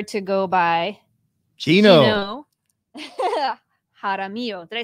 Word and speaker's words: Jaramillo: Jaramillo.